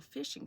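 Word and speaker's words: phishing: attempting what is called a fishing scam spelled with a pH think fishing but instead of using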